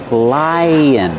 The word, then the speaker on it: lion: lion that's right pronunciation lion the first vowel is the long I like high and like lie when we link to the second vow which is U like cup and up li Li lion we